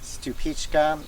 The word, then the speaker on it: Stupička: One is that I like is a variety from the Czech Republic called Stupička. It looks like Stupis if you spell it out.